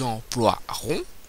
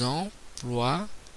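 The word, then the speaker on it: emploierons: bien un y au futur je dis nous emploirons je ne prononce pas le i je prononce pas le E pardon donc nous emploirons avec le i le y le y le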